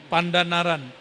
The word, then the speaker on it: Pandanaran: Santri Quran tamatan Sunan Pandan Naran. Begitu bacanya Kiai. Benar, sahih. Pandanaran.